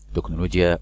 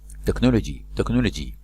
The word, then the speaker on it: technology: تكنولوجي يعني تكنولوجيا. CH هنا تنطق كاف.